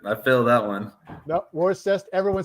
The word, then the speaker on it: Worcester: Worcester. Worcester. Do you know what we say here in Boston? No. It's Worcester. Worcester. Oh yeah, definitely not. Yep, I failed that one. No, Worcester.